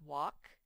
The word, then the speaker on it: walk: your test on friday this word says walk it has the silent l those the e makes